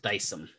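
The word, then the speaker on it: Dycem: D-Y-C-E-M is how it's spelled. So D-Y-C-E-M, Dyson. It's that stuff.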